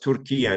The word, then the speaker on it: Türkiye: two names you have the same name but pronounced tury now which is the correct way of Turkish